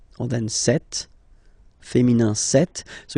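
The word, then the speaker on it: cette: or then set feminine set so you can notice that phonetically these two are pronounced the same way okay set here and then set here and for the plural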